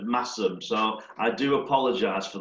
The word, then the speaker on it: Masham: So one of the things that I need to do is, in my excitement, I mashed potatoes for Masham instead of Massam.